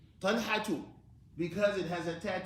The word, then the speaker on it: طلحة: We pronounce it with one dhamma. طلحة.